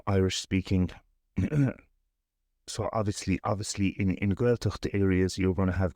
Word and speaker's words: Gaeltacht: But now, correct my pronunciation. You grew up in a Gaeltacht. Gaeltacht.